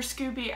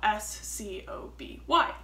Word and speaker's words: SCOBY: bacteria and yeast so s-c-o-b-y um sometimes it's pronounced scooby sometimes it's scoby um i like scooby